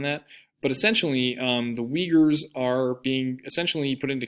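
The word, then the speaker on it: Uyghurs: China in the Shing Jong Province and so Wagers are written like this and it's how it's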